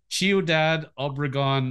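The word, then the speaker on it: Ciudad Obregón: one so born in this is how I pronounce it as me chiodad Obregon Mexico that's fine okay uh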